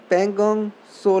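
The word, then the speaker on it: Pangong Tso: Pangong So Lake, T is silent. Pangong So Lake is of Ladakh.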